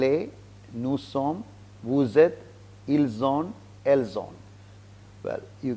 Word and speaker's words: ils: Now, il and ils, meaning is different, but the pronunciation is the same.